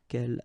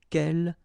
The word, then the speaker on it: quel: So the first thing, the good news is that if you listen carefully, quel, quel, quel, quel, okay, so phonetically you get only one form. Of course, when you get this S, well, if you've got a vowel after, then you will have to make this liaison. But then clearly the basic form like that, phonetically it's the same, okay?